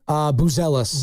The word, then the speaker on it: Buzelis: Buzelis.